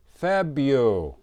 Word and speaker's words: February: And we don't pronounce the R. We say February.